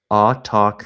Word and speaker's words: autochthon: No, the emphasis is on the talk. Autochthon.